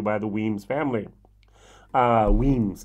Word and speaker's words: Wemyss: the weems family uh weems is how you pronounce it now i'm going to